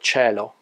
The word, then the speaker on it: cielo: Vowels are always pronounced in Italian. One sort of exception is the word cielo, sky, and few other words starting with ci and gi, in which I is assimilated.